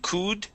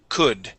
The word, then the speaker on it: could: abroad abroad abroad abroad and could instead of could C could could there you go that's